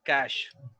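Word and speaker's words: cache: lot of people are stuck this one is cash cash uh this is another word like of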